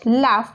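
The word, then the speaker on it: laugh: ए यु जी एच लाफ लाफ म्हणजे हसणे आता इथे बघा बघा जी एच आहे तरी पण त्याच प्रोनन्सिएशन लाफच आहे म्हणजेच आपल्या इंग्लिश मध्ये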